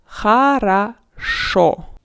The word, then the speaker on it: хорошо: There are 3 letters O, but only the last one is with an accent. So only the last one is pronounced like O, and other 2 O are pronounced like A.